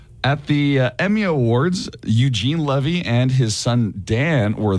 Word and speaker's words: Levy: if it goes well tonight my name is pronounced Levy not Levy and if things go south my name is